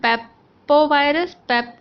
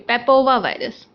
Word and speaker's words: papovavirus: You see DNA virus, papovirus, papovirus. No, sorry, papova virus. Now I pronounce right.